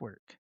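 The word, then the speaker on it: W●RK: So it replaces the O in work with a dot but it's pronounced work.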